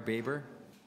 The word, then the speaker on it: Baber: May I have help with the pronunciation of your name so I don't mispronounce it again? It's from Baber. Fine, I had it right the first time.